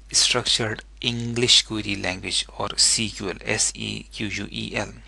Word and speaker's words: SQL: English Query Language, or SQL, S-E-Q-U-E-L. It is still pronounced SQL, but nowadays the use of word SQL is controversial.